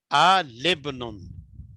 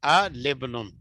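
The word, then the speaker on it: الابن: और इसी तरह अल इब्नुन है, इसको हम क्या पढ़ेंगे, आ लिब्नुन, आ लिब्नुन।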